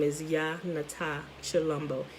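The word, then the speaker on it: Tshilombo: but the t s h is pretty it's pronounced chi like chalumbo and also once you get in you start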